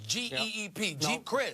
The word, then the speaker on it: Geep Chryst: Kaepernick the quarterback has an offensive coordinator and Jeep Crist I believe that's how you pronounce his name JD's GEEP Chryst you got it well he was the quarterbacks